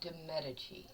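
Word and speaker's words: Medici: Now, Henry Navar took a second wife, Marie Dadichi. I nailed it. And I've been stumbling. It's usually It's usually pronounced demeti though.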